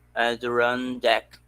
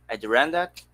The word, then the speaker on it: Adirondack: visit these mountains either at the run deck adirondack yes yeah i think the the stress is on the first syllable they say yeah adrian yeah me